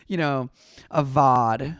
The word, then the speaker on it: VOD: One syllable VOD.